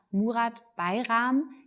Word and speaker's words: Murat Bayram: Mein Name ist Marilena Behrens und ich begrüße heute ganz herzlich bei mir Murat Bayram, Geschäftsführer der European Metal Recycling. Ganz genau, sehr gut ausgesprochen, ja.